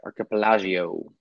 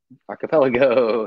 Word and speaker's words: archipelago: the whole archipelago or however we pronounce that archipelagio archipelago archipelago that's it sounds like a hotel in